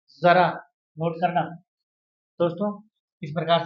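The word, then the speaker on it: ज़रा: इसमें अंतर है उच्चारण में। यह शब्द है जरा और यह शब्द है जरा, जरा, नोट करना दोस्तों।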